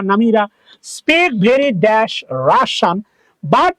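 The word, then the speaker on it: Russia: Dash রাশিয়ান, রাশিয়ার উচ্চারণ মনে রাখবা, নট রাশিয়া, রাশান। তাহলে রাশিয়ান শর্ট মনে রাখবা, রাশিয়া। This is নট রাশিয়া, this is pronounce রাশা।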